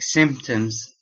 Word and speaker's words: symptoms: words are pronounced like symptoms if you see it here uh the p here is silence so it is pronounced symptoms symptom and other stuff related